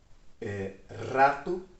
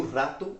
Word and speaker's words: rato: E a mesma palavra rato, que a pronúncia já muda, né? Porque o R é bem forte em espanhol.